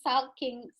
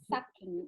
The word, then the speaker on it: sulking: still, I pronounce sulking, sucking. Exactly, you said it right.